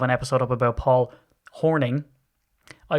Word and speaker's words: Hornung: episode up about Paul Hornung. I said Hornung because I'm Irish. So I don't know. Is it Hornung or Horning? I know it's pronounced in the States Horning, but is that right?